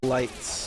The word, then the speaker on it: Litz: She's lip-syncing um and lights on the newest JIT tour. He was weird. And he spells his name Litz but pronounces it lights.